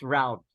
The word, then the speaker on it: route: It's not route? Maybe it's by preference. Okay, both. Pueden ser pronunciaciones. But usually, I think more traditionally, it's route.